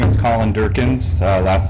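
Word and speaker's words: Dierckins: mayor council members uh my name is Colin Durkin uh last name is spelled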